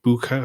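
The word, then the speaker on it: Bucha: it's also linked to butcher or bua forgive me if I've just completely butchered that word which is butcher is the name.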